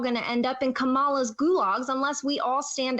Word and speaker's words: Kamala: fight back as Christians kamala's gag okay first of all their names pronounced Kamala not Kamala I don't know why people keep doing that um and second Googs